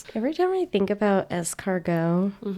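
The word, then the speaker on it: escargot: It's pronounced es cargo, but you read it like on the page that says Essargot.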